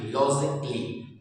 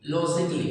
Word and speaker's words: logically: अब हम देख सकते हैं LOGIC लॉजिक एंड LY ली, लॉजिकली, लॉजिकली, यहाँ पर ए हमने नहीं पढ़ा।